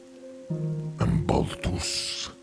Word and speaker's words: Baltus: Baltus. Baltus. Baltu. Can you spell that for me?